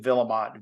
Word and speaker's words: Vuillemot: very very French though we do not pronounce it like the French so more of a Washington um Americanized pronunciation where Awards joining us